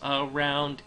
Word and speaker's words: around: I hope you can hear a much heavier stress on the second syllable.